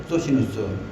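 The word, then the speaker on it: Socinus: 이 소시누스는 이제 소키누스라고도 하는데 두 가지로 이제 발음이 됩니다. 소키누스, 소시누스.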